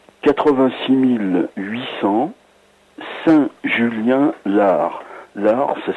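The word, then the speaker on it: Saint-Julien-l'Ars: BP 3 86 800 Saint-Julien-Lard. Lard, ça s'écrit L'_ARS.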